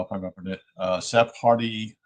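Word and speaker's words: Sephardi: He was descended from a rabbitical I don't know if I remember it uh Seph Hardy is how you pronounce it s e p h a r di line with roots in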